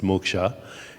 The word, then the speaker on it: moksha: In English, you would pronounce it moksha, M-O-K-S-H-A.